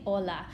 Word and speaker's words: hola: bright and if you did my ears probably started bleeding because I cannot stand that all right so the H is silent you just say hola and so that's we're